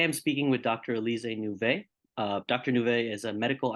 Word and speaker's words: Nouvet: Nouvet? Yes, that's perfect. Thank you. Elysée Nouvet.